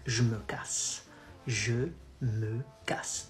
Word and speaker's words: je me casse: You say, je me casse. Je me casse. Then you combine both. It becomes, so je me becomes j'me.